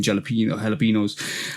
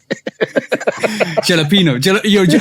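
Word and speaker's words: jalapeño: Because she ain't saying the yo at the end.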